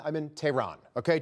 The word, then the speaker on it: Tehran: I'm not in Tehran, I'm in Tehran. Okay, just say it like you would say it here. Don't get cute.